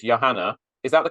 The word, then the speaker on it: Johanna: is spelled exactly the same as yours it's Yanna is that the correct pronunciation yes okay great but I like to